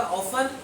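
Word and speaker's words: often: मैंने बोला ऑफन, उसको ऑफन लिख लीजिए, बिकॉज टी साइलेंट है।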